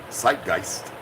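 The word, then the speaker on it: Zeitgeist: German philosophy a z German pronunciation site gist Spirit of the age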